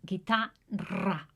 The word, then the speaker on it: guitarra: Let's do it together guitar it's a bit strong guitarra.